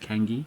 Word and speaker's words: Kangai: So, we're out at a little place called Kangai. We've heard it's pronounced Kangi by the locals.